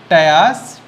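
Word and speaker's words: Ptyas: वन इज टायर्स, P silent, म्यूकोसस।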